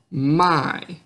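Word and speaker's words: meg: In Norwegian, an E and G together usually, if the G is silent, it usually always makes an I sound, like in the word my, which means me.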